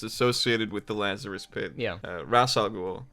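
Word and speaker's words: Ra's al Ghul: with the Lazarus Pit rasal goul depending on how you pronounce it if you want pronounce it like an there's other ways but rasal goul is the cool way to do it he's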